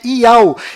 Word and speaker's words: YAUH: nome do criador é tchau e a última letra do seu nome tem som dh mudo que do qual não altera a pronúncia desse nome e o seu filho